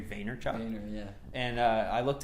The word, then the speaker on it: Vaynerchuk: Gary B's name wrong he's called him Gary Vander Chuck its Gary Vaynerchuk owner yeah and I